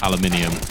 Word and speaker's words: aluminium: Um, aluminium or aluminum as the kids say in America, but I'm from the UK unfortunately, so it's aluminium.